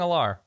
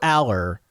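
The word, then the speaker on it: Allar: I finally learned how to say his name. It's Aller. Is it? It's Aller. Yeah. Okay. Drew Aller. I keep hearing Alar.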